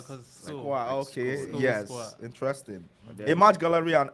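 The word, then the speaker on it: Schwa: That's how do you pronounce SC HWA? I think Squa, right? Yeah. Squa.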